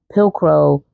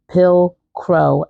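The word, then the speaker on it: Pilcro: and also the anthropology pillcro pill crow I think that's how I'm pron I think that's how you pronounce it is p i l c r o pillcro denim capllet jacket so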